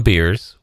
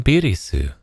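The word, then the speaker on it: ビルス: Either you're going to call him Beers, which is the fucking joke in his name, or you're going to call him Birisu, and you're going to roll that LR to properly pronounce it in Nihongo.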